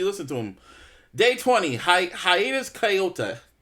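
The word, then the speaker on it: Hiatus Kaiyote: to him day 20 Hiatus coyota how do you say their name hiatus kyot yes okay oh you listen how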